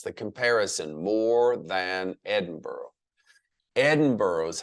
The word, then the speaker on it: Edinburgh: Edinburgh is how you say that. Edinburgh.